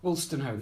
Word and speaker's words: Wolstenholme: Wolstenholme. Wolstenholme, yes, as in Kenneth.